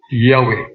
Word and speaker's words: Yahweh: Nga ma-pronounce na to og Yahweh. So, muna nga ang pong nga Yahweh nasudlan na og A, I, U.